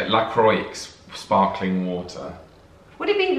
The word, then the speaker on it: La Croix: is everyone's pronouncing the bran wrong la is pronounced la croix not la cua or la cra la croix and croy did we say that no was